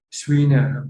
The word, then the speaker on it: Schreiner: Yes, the E is following the I, but the E is not audible. It's like a long E.